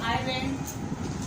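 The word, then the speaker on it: island: एस भी silent होता है अगर ये एक आधा वर्ड है, जैसे आइलैंड, इसमें आपका एस साइलेंट है लेकिन इसकी डिटेलिंग ज़्यादा जाने की जरूरत नहीं है।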